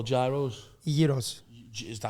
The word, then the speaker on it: Gyros: it Scout's Gyros so how do you say itos with with a Y imagine y e EOS Yos yes nice I've never